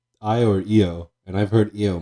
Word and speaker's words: Io: how it's pronounced uh it's literally IO I've heard it I've heard it said EO a lot EO yeah but no but that might be a different Moon if it's IO it's I or EO and I've heard